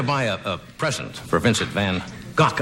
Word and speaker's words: van Gogh: a present for Vincent van gock I guess is the correct pronunciation if you want to use the Dutch pronounce it van gock